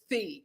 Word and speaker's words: Phi: For whatever reason, they pronounce it Phi.